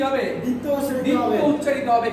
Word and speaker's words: দ্বিতীয়: দ্বিতীয়। কি লিখলাম? দ্বিতীয়। কি লিখলাম? দ্বিতীয়, তাই না? মানে আমরা জানি যে বর্ণের শুরুতে আসছে এই জন্য বফলার উচ্চারণ হবে না, বফলার উচ্চারণ হবে না, যে বফলার উচ্চারণ হবে না।